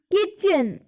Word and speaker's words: kitchen: जो टी होता है ये इसमें साइलेंट होता है. That is वाई we pronunciate it एज किचन.